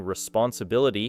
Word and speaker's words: responsibility: The word communication places the strongest stress near the end, creating communication, while opportunity becomes opportunity, and responsibility places the main stress on BL, creating responsibility.